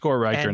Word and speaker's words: Riecker: Uh it's Riker now.